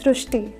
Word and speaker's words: Srishti: So in Marathi, the word Ri is pronounced as Ru. So that is why the pronunciation goes srushti.